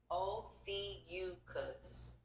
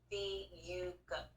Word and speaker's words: Ophiuchus: Pronounced Ophiuchus. Ophiuchus, which is often referred to as the serpent bearer. Oh, nice. The context behind the 13th sign, while the debate around Ophiscius, the proper pronunciation is Ophiuchus.